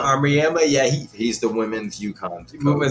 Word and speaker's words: Auriemma: Gio Auriemma. Auriemma, yeah, he's the women's UConn coach.